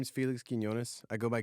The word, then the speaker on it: Quiñones: um so yeah so my name is Felix kones I go by that's a military thing it's just nobody could pronounce pronounce my last name um I grew